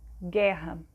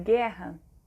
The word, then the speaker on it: guerra: apenas só sai um som né no caso guerra quando a gente pronuncia de guerra né não não pronuncia o som de um